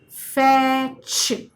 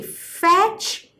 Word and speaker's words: fetch: F, fetch. Okay. So when we say fetch, short vowel ke baad the ch sound. So before the ch sound, write your t, and the t remains silent.